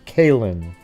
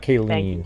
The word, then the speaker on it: Kaylin: Well, just to let you know really quick, just so her name is Kaylin. Kaylin. Not Kayleen. I said it accidentally that way too, so I just want